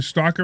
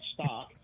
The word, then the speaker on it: stalk: There's an L in there. Stalk. It's not stock. Stock is stock, and stalk is stalk.